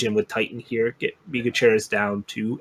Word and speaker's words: Migucheras: And I think it's Migucheras is the correct pronunciation, Rhino.